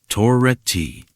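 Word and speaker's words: Toretti: There was something about the rhythm, the particular way it pronounced my surname with a slight emphasis on the second syllable. Toret ti.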